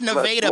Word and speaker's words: Nevada: It is pronounced Nevada, by the way, Jason.